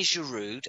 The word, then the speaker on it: Giroud: Right then, we'll move on from Theo, and we'll go Olivier Giroud, and we will go to Danny.